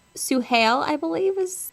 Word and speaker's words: Suhail: It's Suhail. I pronounced it wrong.